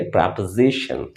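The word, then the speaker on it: proposition: प्रपोजिशन दोस्तों यहां पर एस आई is equal to जेड। तो इसलिए आपको ध्यान रखना है कि जब कभी भी आप एस की उच्चारण कर रहे हैं तो there should be vibration at your tongue और आप इसे पढ़ेंगे प्रपोजिशन। प्रपोजिशन।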